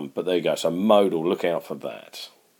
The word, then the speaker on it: modal: 15 what was the modal method of travel now I've I've pronounced it there'd a lot of people say model is not model with modal and we should know that mode is most so modal motor method